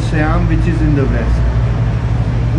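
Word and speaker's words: Tsiam: We call it Siam. Siam.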